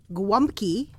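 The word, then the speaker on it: gołąbki: don't know donkey clunky okay it's pronounced grump key uh-huh and that is actually the plural oh oh I see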